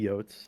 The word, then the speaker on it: Yote: No, you could call me Yotes. I mean, Scruffy, Qrescent7 calls me Yotes. how is it supposed to be pronounced?